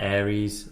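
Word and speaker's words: Ares: It was A-R-E-S. Like Aries. Aries.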